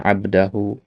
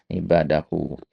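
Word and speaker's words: عِبَادَهُ: Ini tadi antum bacanya abdahu ya. Yang benar adalah ibadahu.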